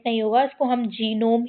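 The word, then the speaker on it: genome: यहां पे जी साइलेंट नहीं होगा। इसको हम जीनोम ही पढ़ते हैं।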